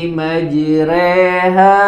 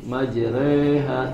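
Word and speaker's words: مجراها: sudah hafal ya Bismillahi majreha wa mursaha Bismillahi majreha wa mursaha bukan majre majreha tidak dbalkan Tapi tetap dibacanya tipis yang kedua adalah ro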